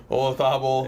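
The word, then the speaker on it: Olazábal: Olazabal.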